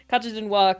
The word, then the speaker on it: Carthaginois: So again, we're just gonna have to check the pronunciation of the team, but I'm gonna go with what I've been told is apparently the French pronunciation. So Carthaginois coming through in first place with 94 points and 66 kills.